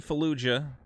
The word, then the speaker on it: Fallujah: Rebooted War Crime Simulator 6 Days in Fallujah.